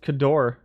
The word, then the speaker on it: Cadore: Pronounced Cador.